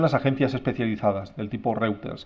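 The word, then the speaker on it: Reuters: agencias especializadas del tipo routers que conoceréis o ritters se pronuncia la relación calidad precio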